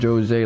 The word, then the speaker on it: José: Okay, so they pronounce it Jose, like Temple of Jose. It's so hot. So it's Japanese in this case.